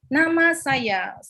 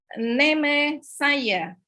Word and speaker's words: nama saya: So, for example, nama saya. Sometimes the foreign learner use name saya. So this is not a good pronunciation.